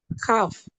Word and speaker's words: calf: Calf.